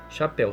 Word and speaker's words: chapéu: Agora vamos pronunciar para ver quantos sons a gente escuta. Chapéu. Então são 5 fonemas. Chá, né? O som de X e o A, chá. Pé, P-E, U. Então 5 fonemas.